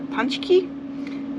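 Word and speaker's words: pączki: One thing we got is called a punchki, which I don't know why it's called that, because it's spelled like P-A-C-K-Z-I or something. I don't know how that says punchki, but apparently it does.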